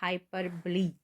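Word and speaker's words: hyperbole: करेंगे तो हम आगे बढ़ेंगे इसको इसकी पहले प्रोनाउंसिएशन देखेंगे इंग्लिश में क्या है यह है हाइपरब्ली हाइपरब्ली ओके तो डेफिनेशन है इसकी तारीफ है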